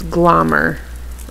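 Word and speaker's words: Glommer: It's glomer.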